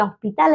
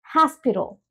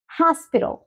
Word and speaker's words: hospital: escuchado muchas personas que hospital dicen hospital hospital pero no es así Los Americanos la pronuncian como hospital hospital hospital sí la H la pasamos a una J tenemos la entonación al principio y toda esta parte